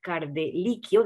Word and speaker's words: Cardellicchio: Y para hacernos un balance justamente de lo que está ocurriendo, hemos invitado nuevamente a Cardeliquio, espero haberlo No, pronunciado bien en esta ocasión.